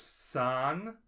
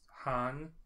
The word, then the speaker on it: san: And then there's san, which sometimes pronounced han in Kansai dialect, is the most commonplace honorific, is a title of respect, typically used between equals.